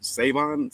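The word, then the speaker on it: Salvon: Right now, like I said, going forward, I will give my flowers right now to Salvin Ahmed. I know they said the L is silent, so it's Savon.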